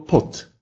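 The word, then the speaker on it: pod: «Д», как и «б», в конце слова произносится как «т», оглушается.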